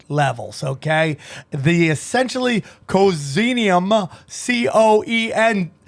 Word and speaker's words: coenzyme: okay the essentially causinium c-o-e-n-z-y-m-e how do you say that cozinia no enzyme comes on okay coenzyme i like that required for cellular energy